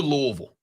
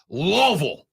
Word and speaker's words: Louisville: State cannot get in if they lose to Louisville by the way I said Louisville one time one time I said Louisville in this segment and I get the text that goes Rob it's pronounced loville I want to love anything as much as